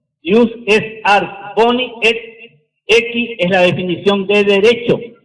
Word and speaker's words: aequi: Se escribe aequi y se pronuncia equi.